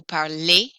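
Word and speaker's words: parlent: on the end vu parlay and then el in l my ending i drop the er and instead i add the letters e and t which are silent and they are pronounced parle so parley to speak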